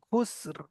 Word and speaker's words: خسر: والعصر إن الإنسان لفي খুসর, খুসর, খুস لفي বলবেন, خسر খুস বলবেন, লাস্টে রটা উচ্চারণ করবেন, খুসর।